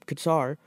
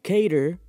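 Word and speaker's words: Kattar: episode if you saw I kept pronouncing his name wrong apparently but I could have sworn I heard people calling him guitar so I was calling guitar our last episode but Calvin cater took on Jeremy Stephens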